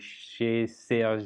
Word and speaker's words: Chez Sergio: walking you through the she says your app is actually a little bit of a french spelling there or french pronunciation uh this is an